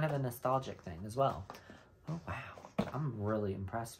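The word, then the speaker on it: Oui: juicy couture fragrance called we o-u-i we oi is what it looks like but i think it's called we just how you pronounce it we if it's oi then i'm wrong but i call it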